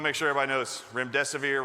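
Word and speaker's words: remdesivir: so we want to make sure everybody knows rim death of ear rhymes with run death is near veery means Chooser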